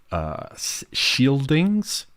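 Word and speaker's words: Scyldings: have to do is go check out um shieldings it's spelled s-c-y-l-d-i-n-g-s and uh you can just head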